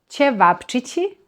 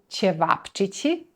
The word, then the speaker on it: ćevapčići: have roštilj Roštilj is meat-loaded feast that has ćevapčići as the stars of every roštilj-filled plate.